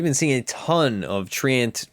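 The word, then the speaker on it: Treant: seeing a ton of Trant protector or Trent protector as I hear it pronounced incorrectly sometimes Nature's guys now applies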